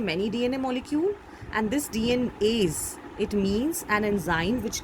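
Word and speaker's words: DNase: See, it is pronounced in the same way, but DNAs means more than one DNA, many DNA molecule, and this DNAs, it means an enzyme which degrades DNA.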